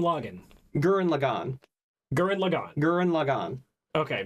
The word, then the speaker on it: Gurren Lagann: gurren lagann guerin lagann gurren lagann okay just i thought i had to pronounce right but a lot of people on the internet call it current login so i i know